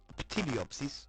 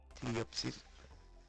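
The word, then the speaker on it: Ptilopsis: or tyopsis cuz uh topsis is uh tiopsis though p is kind of silent tiopsis it's hard to pronounce the name fully uh she's very AoE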